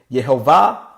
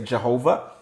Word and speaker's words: Yehovah: Elohim, the powerful ones, Yehovah, that's how it's actually pronounced, Yehovah. Some of you say Jehovah.